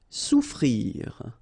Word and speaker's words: souffrir: Souffrir. Okay, so double F is not pronounced.